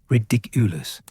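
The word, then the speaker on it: Riddikulus: The emphasis is on the second syllable, ridiculous, and the wand movement should feel light, almost like you're tossing something into the air.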